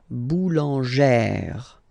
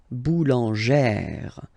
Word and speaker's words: boulangère: Remember, when you've got this e plus this accent grave, you pronounce it like eh, really open eh sound. Okay, so boulanger, boulanger, and then feminine form, boulangère, boulangère.